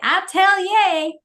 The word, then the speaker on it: Atelier: It's Atelier. So I always think about it like this. I always tell people when they have trouble saying the name and say Atelier.